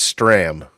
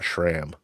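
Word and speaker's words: Stram: Hank Hank is Stra, not ShraMM.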